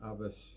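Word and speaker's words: Alves: ewan martin up in avis spell a l v e s one of these weird scottish words it doesn't pronounce anything look like it looks like but hey that is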